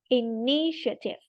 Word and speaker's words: initiative: the initiate initial initiative initiative initiative three syllables um take the initiative